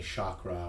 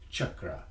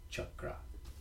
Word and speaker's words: chakra: Many people say chakra or chakra, but it's actually pronounced chakra. And so we explain how that's pronounced in the back as CHUK-RA, chakra.